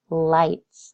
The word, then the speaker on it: lights: lights this one's tough this has silent letters in there but we're going to sound it out light and that I right now it says lit so I need something to make this eyes say an i sound and that's usually a silent E turn off lights when